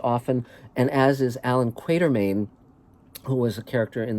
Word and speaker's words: Quatermain: and as is alan quatermain who was a character in the novels of h writer haggard it's not quartermaine it's quatermain and uh and that's